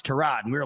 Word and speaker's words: Tyrod: It was kind of like when we all called Tyrod Taylor Tyrod Taylor and then he came out and was like, "No, it's Trod."